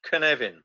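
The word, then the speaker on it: Cynefin: in the Welsh language this word c-y-n-e-f-i-n it's pronounced can Evin and it's a sense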